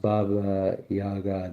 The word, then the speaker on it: Baba Yaga: To the Slavic peoples of Eastern Europe, Baba Yaga, pronounced Baba Yaga, the old woman of autumn whose spirit lived in the last kernel of harvested grain.